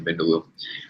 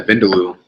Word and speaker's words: vindaloo: general cowo and chicken bendalo um pretty sure I've had the vindaloo that's how you pronounce it um I'm a huge